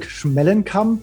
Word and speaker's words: Schmellenkamp: My name is Schmelingkamp.